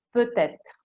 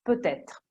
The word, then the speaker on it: peut-être: Forse si dice può essere in francese, peut-être, quindi questa T si deve agganciare alla E che sta subito dopo, peut-être, tra l'altro si scrive con un trattino.